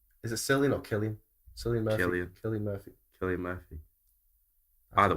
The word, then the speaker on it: Cillian: Killian should be a K. You don't usually pronounce a C as a K in that kind of context.